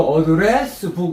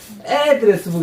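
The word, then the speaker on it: address book: 주소록 와 박수 박수 야 어려운 거 맞췄네 이거 어드레스북 이렇게 하면 틀려요 맞아요 틀려요 틀려요 애드레스해야 돼 이거 반드시ook addressbook 다시 한번 addressook 어 adressbook 해야지ook북 이러면 미국사님 볼 때 동사로 발음해 놓고 뒤에 북부자 이상해 아, 외국인은 외국인가 보다. 봐주자. 애드레스북 이러면 와 똘똘이네.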